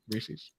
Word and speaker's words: Reese's: Like it rhymes with pieces. Reese's Pieces.